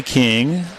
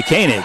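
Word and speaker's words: Koenig: Paige G for St Johns over to Melanie King she spells her name k o e n i g but pronounces a king most of us would say kany but that's not the way she wants it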